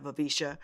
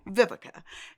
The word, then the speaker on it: Vivica: my name growing up a lot of people couldn't pronounce vivica so i was called by vika vivisha i was called everything but vivica and so my middle